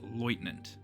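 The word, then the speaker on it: Leutnant: land you in the rank of loitant, which is not me having a stroke trying to pronounce lieutenant or left tenant if you're from the UK. It's just the German word for the rank. And for some reason, even in the English voice acting, they still use the German pronunciation.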